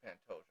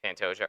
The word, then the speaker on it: Pantoja: uh ma Matthew Nicol to panto it's Pantoja EG EG now he's